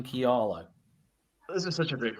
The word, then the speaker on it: Kialo: And yes, we are Kialo, and it's not a word you would have